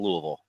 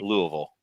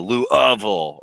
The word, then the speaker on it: Louisville: moment I would say the easiest and most common is just kind of that Louisville right Louisville uh but you don't have to really over pronounce or over pronounce any of the the pieces of the phonetics there um I've heard some people really put emphasis on the Lou ofil or Lou ofil um and but it's like